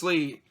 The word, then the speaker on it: Li: bruce lye like i'm i'm sure it's pronounced lee but yeah l i instead of l-e-e and it's also directed